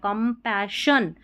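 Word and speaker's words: compassion: कंपैशन double S आई ओ एन को शन पढ़ेंगे।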